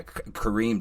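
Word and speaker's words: Karim: Was that Kareem? Is that how you say his name? Is that who did your cinematography? Yeah, Kareem, just out of the fucking park, man.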